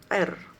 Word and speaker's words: عر: عر دي قيم صوتية يا جماعة بنستخدمها في النطق. فالحرف الاولاني ده بتنطق عين، والحرف اللي وراها ار، فاحنا عندنا عر. الاجنبي مش هيعرف ينطق حرف العين فبيقول ار.